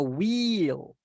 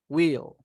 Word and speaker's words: will: say should have to will no wheel SOS we don't say wheel they will will and we also have